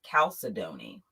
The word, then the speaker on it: chalcedony: something okay today's stone today's stone is chalcedony and some of you may know it um pronounced a different way calcidoni this is actually a